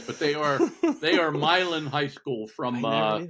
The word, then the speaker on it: Milan: team beats the Christmas addict team they're actually pronounced believe it or not milin milin yeah they are they wanted to get